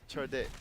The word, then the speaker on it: cerdik: It's cerdik. CERDIK. Dire's CERDIK. bottom tower is Yeah. under attack. How'd you pronounce it? Cerdik. Churdick?